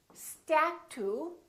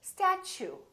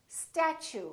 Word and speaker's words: statue: let me show you we don't say statue we say statue statue so the T uu sound like CH so it almost sounds like chew I chew my food statue let's try a few